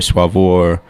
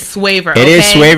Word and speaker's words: Swavor: how you say this so i'll let you say it however you pronounce it but uh swayer suavoir swaver so the favorite y'all is swayer but hey if you if you like the other pronunciation i'll never stop anybody as long as as long as you as long as you're identifying the right brand that's good though because